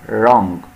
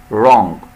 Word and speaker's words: wrong: لو ملاحظين هنا بدأنا ننطق الكلمة بالحرف حرف ال R wrong wrong.